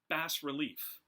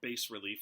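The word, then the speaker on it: bas-relief: They created something called bas relief, or bas relief. I've heard it pronounced both ways.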